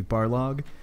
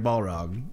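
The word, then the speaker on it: Barlog: and the developers they they talk about Corey bar log and all of them mispronounce his name and they say Corey Balrog and it makes me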